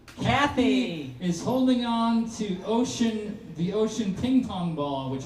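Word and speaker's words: Oshun: And finally, which is funny because it's spelled O S H U N, which sounds like ocean and it happens to be the goddess of rivers, streams, and water.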